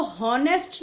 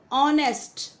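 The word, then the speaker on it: honest: ऑनेस्ट, listen carefully, इसको हॉनेस्ट नहीं बोलना है, एच साइलेंट होता है इसमें। This is called ऑनेस्ट।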